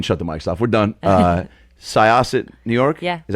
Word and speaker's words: Syosset: right we can shut the myself we're done Syosset New York yeah is how you pronounce me yes I um what was it